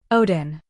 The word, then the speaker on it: Odin: He mimicked the way they were pronounced in the movie, hitting the long i in biffrist and the d in Odin, which was how I'd always pronounced them apparently incorrectly.